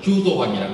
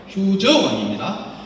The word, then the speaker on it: 휴저왕: 우리는 효도왕이라고 하는데 도적 도자를 썼다고 도자를 읽으면 큰일 납니다. 도둑을 만나는 거예요. 도적 도자는 흉노의 왕을 말할 때는 저로 읽으라고 어느 표로씩 다 그려져 있어요. 그런데 휴저왕이라고 읽어주는 학자들이 별로 없어요. 휴도왕이라고 해요. 휴저왕입니다.